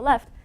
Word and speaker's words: Le: a plus to the left is forbidden. So there's this forbidden shape. This shape looks like a backwards L, and backwards L is pronounced le, and we write it like this, and so this is the terminology.